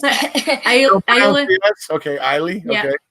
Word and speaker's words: Islay: Okay, Islay. Yeah. Okay. It's silent S. It's almost kind of like Isla.